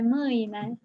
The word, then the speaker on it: mâine: Make sure you pronounce the word for tomorrow with all the diacritics in it. Moina. Yes, pe mâine.